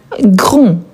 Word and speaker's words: grand: Ensuite, on a grand. Quel est le féminin des grand ? Grand. Super. Attention car grand, on ne prononce pas le D.